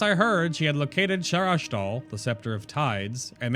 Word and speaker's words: Sharas'dal: So it's just Sharas'dal. So it's a light H. At least the way that Aranak pronounces it.